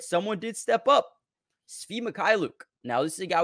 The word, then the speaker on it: Svi Mykhailiuk: I don't have a lot of how do you pronounce his name? Svi Mykhailiuk.